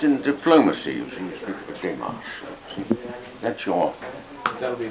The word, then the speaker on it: démarche: But no, he is, you see, in French it's something you call a démarche that he is interested in. Dimash? A démarche.